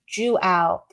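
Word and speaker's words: João: It's pronounced Juao.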